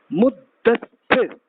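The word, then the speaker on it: مدثر: Muddathir, like this. Many of you might have the same name, Muddathir. This is the right style to pronounce.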